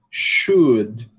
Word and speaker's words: should: Eh, a gente não deve pronunciar esse L, né? Então, ó, could, could, should, would.